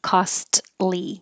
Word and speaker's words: costly: doer and then costly you don't have to say the T it is difficult to say costly because the T and the L are made in the same position so just skip the T and say costly prescriptions in the U.S